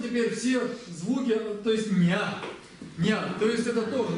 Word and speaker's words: ཉ: Назализированный. То есть это низкий, назализированный, он произносится ня.